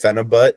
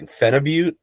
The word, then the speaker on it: phenibut: Actually, I think it's pronounced Phenibut, and I've been saying it wrong the whole time because it's like Russian.